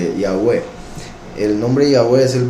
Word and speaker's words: Yahweh: o en este caso transcribiéndolo como Jehová, que llegó a ser en español Jehová, pero la verdadera pronunciación, el verdadero nombre es Yahweh, y él dijo que